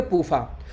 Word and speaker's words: PUFA: तो पूफा शॉर्टकट में हो गया, PUFA, इसको शॉर्टकट में पढ़ेंगे पूफा।